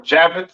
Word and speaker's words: Japhet: Next we have Japhet. All right, or Javeth. Some people like to call it. Right. Pronounced Yapath in Hebrew.